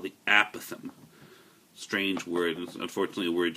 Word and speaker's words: apothem: until I looked it up it's called The aatham Strange word unfortunately a word you're going to